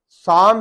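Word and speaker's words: psalm: साम है तो ये साम जैसे कोई नज़म वगैरह होते हैं, उसका ये पी साइलेंट है।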